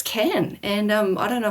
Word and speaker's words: Cannes: look up a YouTube video on how to pronounce KH and it turns out it's can.